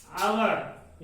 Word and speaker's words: hour: जैसे देखिए HOUR, इसको हम किस तरह से प्रोनाउंसिएट करेंगे? आवर। इसको अगर हिंदी में हम लिखते हैं, यहाँ पे लिखेंगे आवर।